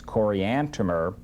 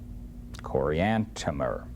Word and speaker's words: Coriantumr: 1 and 15, where Oliver Cowdery first writes Coriantumr. He hears it, Joseph Smith pronounces it, and he writes it, and he writes at the end T-U-M-M-E-R, Coriantumr.